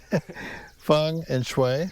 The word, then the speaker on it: Feng Shui: Feng and Shui. Feng. Right, F-U-N-G. And Shui, like with Wei, W-A-Y.